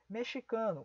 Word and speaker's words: mexicano: a letra z executivo mexicano é uma daquelas palavras que também é pronunciada como ch Então coloque o ch aqui taxista palavra estrangeira Então